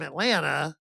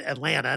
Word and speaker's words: Atlanta: But I also now know if you're from Atlanta, and by the way, I say it right. Atlanta, not Atlanta. Atlanta.